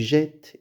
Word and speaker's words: jette: doit doubler la consonne, On prononce E comme s'il y a un accent. Alors, E plus de consonne, il n'y a pas l'accent, mais il se prononce comme s'il y a un accent sous-entendu.